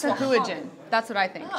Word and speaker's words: Sahuagin: It's become Sahugwin on ours. Sahugwin, That's not okay. that's not how you pronounce it.